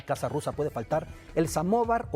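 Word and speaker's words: самовар: rusa puede faltar el samovar pronunciado en ruso el sama bar se traduce como auto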